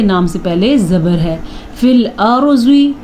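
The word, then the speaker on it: فِي الْأَرْضِ: سے پہلے زبر ہے۔ فی الارض، را پر پڑھنا ہے کیونکہ را ساکن ہے اور را سے پہلے زبر ہے۔ زواد کو پر پڑھنا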